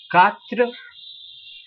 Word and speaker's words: quatre: Then it goes the way as you do not pronounce the U, which is the U, and it becomes CA in English language. So it is pronounced as quatre.